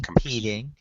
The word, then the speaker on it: competing: come home again income competing that's a competing competing second second syllable stress most verbs with two